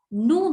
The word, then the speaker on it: nous: Nous means we. We never pronounce S, so nous.